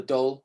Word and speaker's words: dhol: i play an indian drum uh called a doll a d8 it's spelled dhol using these sorry use using your